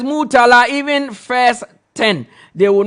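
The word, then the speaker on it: Yves: Please, Bisuma's first name is pronounced Eve. Yes, it's Yiv Bisuma. Yiv Bisuma. Thanks. I am Sir from Dansuman. Okay, so Eve Bisuma.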